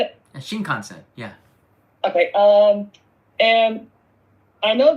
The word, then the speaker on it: Shinkansen: Shinkansen, yeah.